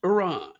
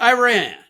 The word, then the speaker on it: Iran: It's pronounced Iran, not Iran.